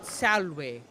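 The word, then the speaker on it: salve: well the technically so classical Latin you pronounce v as the W so take the word uh Salway right yeah that's s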